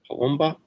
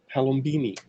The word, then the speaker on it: Palombini: Francesca Palomba, I'm saying her last name wrong. The shepherd writes up, in essence, a history of how it's been, the discussion. Thank you, Francesca Palombini.